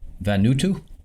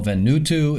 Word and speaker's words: Vanuatu: Okay, so I believe this is pronounced Vanuatu.